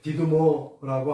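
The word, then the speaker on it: Δίδυμος: 디두모인데, 여러분 요거 생각해보면 이게 델타 아니에요? 이게 델타, 이게 D 발음이 나는 거야. 네, D. 그 다음에 이건 역시나 E. 그 다음에 이건 D자 똑같죠? 그 다음에 U자 비슷하고, 아까 말한 대로 디두모.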